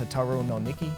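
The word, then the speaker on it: Hotaru no Nikki: niq the Firefly Diaries supposed to be pronounced tataro no Nikki up here we have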